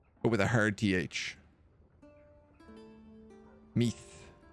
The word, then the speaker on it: Meath: Meath is like teeth, but with a hard TH. Meath.